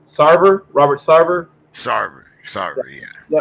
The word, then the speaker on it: Sarver: time um we have to talk about mr satan i think i pronounced it right sarver robert sarver sorry sorry yeah uh the uh